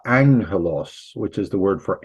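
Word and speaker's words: ἄγγελος: Sometimes if you have two of them together, they're pronounced ing, like angelos, which is the word for angels, los angeles.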